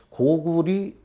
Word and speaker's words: 고구리: 이렇게 명령이 돼 있습니다 아 그렇기 때문에 이 앞으로도 고구리 또 고려 도 마찬가지죠 고우리 에 나라의 이름이기 때문에 이렇게 불러야 될 것 같습니다 그래서 번 발표에도 에 고구리 또는 고리로 발음을 하고자 합니다 그 또 하나는 중국이라고